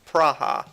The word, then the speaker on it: Praha: in the world ok the German sciences it's pronounced praha oh so you know you land in the